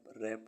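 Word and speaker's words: wrap: सड सड मींस तलवार डब्लू आर ए पी रैप मीस ढकना डब्लू ई आई जी एच टी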